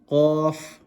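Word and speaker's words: ق: Qaf, pronounced with a full mouth, and the way you identify it is with the two dots at the top.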